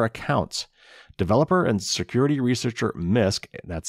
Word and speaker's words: Nysk: even from their accounts developer and security researcher misc that's spelled nysk and we've quoted this researcher before